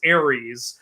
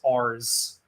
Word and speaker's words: Ares: Ares is Ares. When I was a little kid and my mom read me Greek myths, she pronounced Ares as Ars. She said, the next god is god of war, Ars.